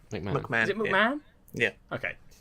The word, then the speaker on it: McMahon: quickly, especially when it's Stephanie McMahon, however you pronounce their last name. McMahon.